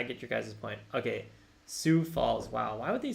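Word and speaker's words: Sioux Falls: Cason is also saying pronounce Sue okay so like Sue Falls like the Indian tribe like I know the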